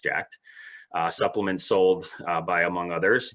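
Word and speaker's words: Jack3d: For the exercise, he had taken the recommended dose of Jacked, pronounced Jacked, supplements sold by, among others, GNC, the retail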